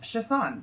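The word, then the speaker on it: Chassagne: Chassaing.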